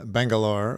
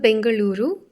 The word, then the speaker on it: Bengaluru: I ask you that you are from bengalore which is the sort of Western way of saying the city why don't you pronounce the proper way of saying it for us so it's called Bengaluru and U my mother tongue